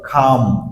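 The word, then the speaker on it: calm: বি কাম বি কাম এখানে আমরা অনেকেই বলি কাম কাম হচ্ছে না রাইট সো কাম এল সাউন্ড সাইলেন্ট হবে বি কাম বি কাম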